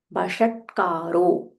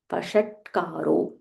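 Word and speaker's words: वषट्कारो: Vishvam, Vishnur, Vashatkaro, sh, Murdanya sh, and there is half t, Vashatkaro, Vishnur Vashatkaro, Bhuta Bhavya, Bha Mahaprana, and it is Bhu Dirgha, Bhuta Bhavya Bhavat Prabhuhu.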